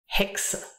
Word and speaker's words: Hexe: X, pronounced like a KS, X, Hexe.